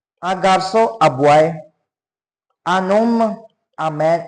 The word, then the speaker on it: homme: Un homme, a man. H is silent. That is why homme.